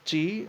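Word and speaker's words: qi: Ki, pronounced Chi, okay, is a movable positive or negative life force, which plays an essential role in feng shui.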